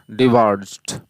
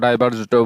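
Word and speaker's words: diverged: Discard, discarded, discarded, dissipate, dissipated, dissipated, ডিসওয়ার্ড, ডিসওয়ার্ডেড, ডিসওয়ার্ডেড, ডিবার্জ, ডিবার্জড, ডিবার্জড বা ডাইভার্জডও বলতে পারি উচ্চারণটা।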